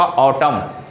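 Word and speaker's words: autumn: है आप लोग का ऑटम ए यू टी यू एम एन वहां भी क्या है एन साइलेंट है तो उसको भी हम लोग ऑटम बोलेंगे यहां क्या होगा फायर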